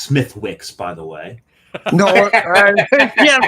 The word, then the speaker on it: Smithwick's: It's pronounced Smithwick's, by the way.